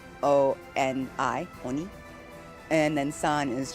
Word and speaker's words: oni: Uh o O with just one O and one N on is like a really respectful way to refer to a demon on cuz demon is oni o n i oni and then son is just like you know son.